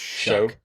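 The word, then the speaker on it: Shough: It's pronounced Tyler Shuck. Like shucking like oysters.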